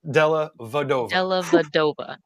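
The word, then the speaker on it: Della Vedova: Aaron dellavedova and uh I always want to leave a syllable out too every time I say it Aaron Della vadova yeah and uh if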